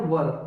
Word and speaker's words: were: और guys, pronunciation काफी important है, ये है वर, ओके। आपने देखा होगा जब शादी होती है तो वर वधु होते हैं, राइट। तो ये वो वाला वर है, ठीक है।